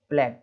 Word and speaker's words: plague: हो जाता है ना, उसको नहीं पढ़ते हैं, साइलेंट मतलब उसको पढ़ते नहीं। अब क्या लिखा हुआ है, प्लेग, है ना, प्लेग, PLAGUE, प्लेग, है ना, महामारी जो होती है उसको बोलते हैं।